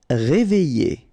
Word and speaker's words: Réveillé: Réveillé. Okay, I-double-L-Y. Réveillé. Horrible. Okay, first letter is H, but then we don't pronounce H, so you don't pronounce it.